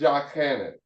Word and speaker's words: Yochanan: The pronunciation of his name is Yochanan.